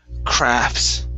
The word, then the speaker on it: crafts: uh but the word crafts okay now uh with this word you do not have to pronounce that t okay so this is